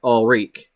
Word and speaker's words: Ulrike: So it's almost like Ulrich, but Ulrike. So in other words, I'm kind of saying it right. I might be adding too much E on the end, but whatever.